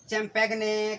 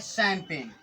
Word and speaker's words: champagne: अब इसे चैम्पैगने, कंपैगने, सैम्पैगने बोलेंगे, लेकिन बच्चों सबसे उलट, सबसे इतर ये लिखा है शैम्पेन। अब लीजिए एक और तमाशा, यहाँ पर जी भी साइलेंट हो गया।